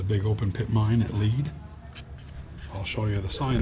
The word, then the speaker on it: Lead: to head to Lead, which is spelled L-E-A-D like lead, but they pronounce it Lead because they spell it the same.